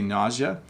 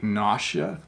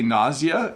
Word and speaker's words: nausea: So there's a lot of ways to say it, but I would say nausea. Some people say nausea, but I think that's wrong. And it's a tricky word to pronounce, but I would say nausea, and I might be wrong.